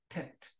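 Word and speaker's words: טית: 그래서 tet, tet, t 발음이죠.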